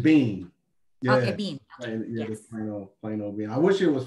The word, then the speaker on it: Beane: last name you you're people trying to put more syllables in it there's just bean yeah i wish it